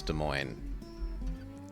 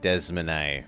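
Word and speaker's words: Des Moines: like Fargo clet and then clette Minneapolis Minneapolis De Moine Desman Des Mo but it's De Moine so I'm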